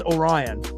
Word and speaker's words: Orion: So, uh, I don't have it displayed here on the channel, but, uh, so my name's Orion. So, it's like the constellation like Orion's belt spelled the same way.